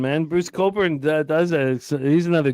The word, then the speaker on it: Cockburn: Bruce Coburn it's it's it's spelt c cockburn maybe that will help you it's spelled cockburn why don't you write cockburn into your internet no put Bruce in